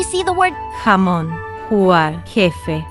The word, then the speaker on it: jefe: most English speakers pronounce it like Haman, Huger, Hafi, with a soft H like in hello. That is completely wrong. The Spanish J is a strong friction sound created deep in your throat.